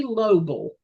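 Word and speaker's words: Loebl: by the name of Terry Lobel I think that's how you say his name l o e b l he was an unemployed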